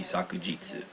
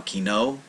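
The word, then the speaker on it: 昨日: relate to the meaning the actual pronunciation for form will be sakujitsu but for right now kino was a word and they just put the kanji on top of that word same as ashta they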